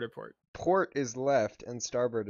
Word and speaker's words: starboard: port is left and starboard is right and how do you remember that well because rhymes with starburst and the starburst has the red which is right it's an r which makes right and port is like